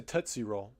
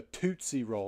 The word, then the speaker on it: Tootsie Roll: like they sounded like who eats a tosy roll it's a tootsy roll like it's toot right